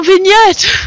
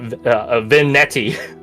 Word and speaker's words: vignette: That you don't pronounce it vignetti. Netty? Vignette. Because the E at the end changes it.